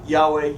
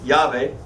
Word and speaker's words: Yahweh: okay I can pronounce Yahweh Yahweh or I can pronounce it yave right some guys pronounce it Jehovah does God know who